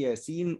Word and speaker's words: يس: ياسين والقرآن هكذا تكتب في المصحف، ياسين تمام والقرآن هكذا تكتب، لكن عند النطق هذا الموضوع موضع ياسين عند نطقه تنطق هكذا، نقول يا سين والقرآن.